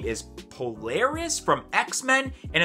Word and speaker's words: Polaris: we have what i'm pretty sure is the pronunciation of the name is polaris from x-men and it's also a glow-in-the-dark pop